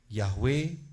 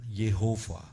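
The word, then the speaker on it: Yahweh: Yahwe bukan Yehova, bukan. Yahwe is nothova. Jehovah. Jadi pengucapannya harus benar.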